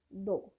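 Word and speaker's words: though: We write T एच ओ यू जी एच बट we pronounce it like दो।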